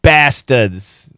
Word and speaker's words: bastards: Bastards. There's no R. Bastards. Bastards is the typical pronunciation.